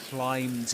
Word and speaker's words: climb: There's another important thing to bear in mind here which is that in climb the B is silent.